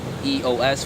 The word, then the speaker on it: Eos: Now her first name is like it's spelled like EOS, which is Eos, which is the goddess of dawn, and her last name